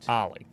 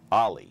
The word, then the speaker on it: Ahle: It kind of rhymes with Sally. Ahle, right? Ahle. Ahle.